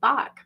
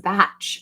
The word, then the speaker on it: Bach: And I said, I just so you know, I know that it's bac and it's like Johan Sebastian Bach is pronounced like that, but from what I understand, this in particular, this is batch.